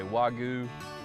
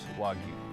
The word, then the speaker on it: Wagyu: so we raise uh wagyu as a correct pronunciation while you hear a lot of people say wagyu or wagyu but the correct one is wagyu the meat is processed